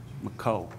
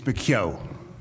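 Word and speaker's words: McKeogh: this point uh the association will call mcco and i probably pronounce that wrong so i will allow him to pronounce it correctly for the morning good morning it's bakyo okay could you just spell your last name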